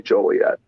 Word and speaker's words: Joliet: do you say it uh it's i say joliet okay so uh where where where exactly is